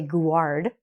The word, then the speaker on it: guard: So you don't say guard, security guard, or the tour guide.